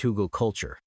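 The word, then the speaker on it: Hügelkultur: It's called Hoogal Culture, pronounced Hoogal Culture.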